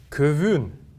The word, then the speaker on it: көвүн: Итак, первое слово «көвүн». «Көвүн» произносится оно, как я уже говорил, если гласная, согласная и снова гласная стоят у нас, то последующая гласная, вторая гласная будет протягиваться чуть дольше.